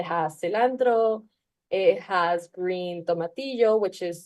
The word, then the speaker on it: tomatillo: of ingredients it has cilantro it has green tomatillo which is like this small um Green Tomato